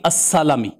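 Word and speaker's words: السَّلَمي: تو فرمایا الخزرج الانصاری السلمی، یہ ذکر کر کے فرماتے ہیں بفتح السین واللام، تاکہ پڑھنے والے کے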